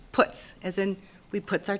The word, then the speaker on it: Putz: Since we have such a wonderful relationship, my last name is pronounced Putz.